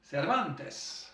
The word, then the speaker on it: Cervantes: le fier Ibère, Miguel Cervantes. Et heureusement qu'en espagnol, le S final, il se prononce, sans quoi ça ferait Servante.